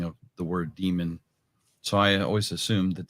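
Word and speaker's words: daemon: Rancher, the word is pronounced demon. If you pronounce it Damon, you're saying it wrong.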